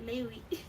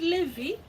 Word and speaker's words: Levi: You know, Levi is pronounced Lewi. Okay. I said I don't mind correction. It's good to have you around. I said Levi.